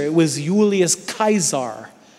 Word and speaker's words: Caesar: really how A lot of these things were pronounced right so it was it was actually not Julius Caesar it was ulius kaisar right you remember the Germans had the Kaiser